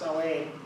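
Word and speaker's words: Samhain: heritage the celtics this was the salway s-a-m-h-a-i-n pronounced celane in celtic celtic and what it meant was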